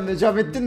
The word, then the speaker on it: Necmettin: Ya Necmettin ne abi? Necmettin lütfen. İsmimi doğru telaffuz edin.